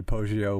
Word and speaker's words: Poggio: That is it pronounced Poggio? Yes, but no, he wasn't a monk.